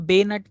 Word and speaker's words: bayonet: जैसे कि ये बेनट, इसको हम बेनट कर पढ़ते हैं। सबसे पहली चीज तो इसकी स्पेलिंग BAYONET होती है, लेकिन हम इसको बेनट पढ़ते हैं।